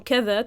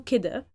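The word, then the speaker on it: كده: It has been transformed from keda to kida, but it takes on a range of idiomatic meanings on its own and in phrases.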